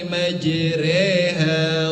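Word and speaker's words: مجريها: Sedangkan menurut istilah menurut para ulama qur yaitu memiringkan harakat memberikan harakat fathah kepada harakat kasrah. Contohnya adalah di dalam surah Hud ayat 41. Bunyi ayatnya, waqarkabu fiha bismillahi majreha wa mursaha.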